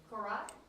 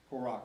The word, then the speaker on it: Korak: How do you say your last name? Korat? Korak, okay.